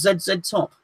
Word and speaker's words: ZZ Top: He wants to know, how do I pronounce ZZ Top?